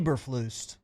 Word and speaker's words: Eberflus: e nope just e spell it e b e r that's ebber f l u s e breflus that's eberflus um it depends on the